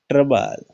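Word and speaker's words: trouble: ट्रबल, ओ silent है।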